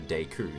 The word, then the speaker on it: Deku: recall right now but it's clearly based even just going on the sole fact that it is it's japanese it must be deku that's just how they